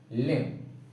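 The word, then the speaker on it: limb: क्लाइंब, डम, Tom, bomb, लिम। तो इससे क्या रूल हमारा बना है कि एम के बाद बी आता है तो उसको बी साइलेंट, और टी से पहले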